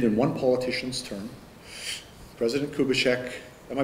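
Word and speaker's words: Kubitschek: can't be completed and one politician's term president kubishek am I pronouncing that right yes yes the buildings were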